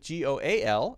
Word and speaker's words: goal: Same one with Goal, except we have the L sound at the end.